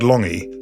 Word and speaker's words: Lange: explaining why your name which is spelled l a n g e is pronounced longy I mean it was